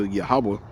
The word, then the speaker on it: Yahawah: It's a fourletter word, but it's missing the ah sound to it, right? The ah. So it says is the fourlet Hebrew name, right? For Yahawah for the God of